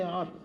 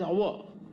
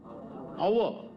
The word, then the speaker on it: hour: kilom per hour hey don't say hour pronunciation is hour come on repeat our not we shouldn't pronounce wrongly pronounciation is important